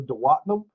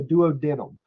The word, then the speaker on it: duodenum: two is called the duodenum or the duodenum. Now, I've always heard it pronounced duodenum, but I've heard a couple of people say duodenum, so if you've ever hear it both ways.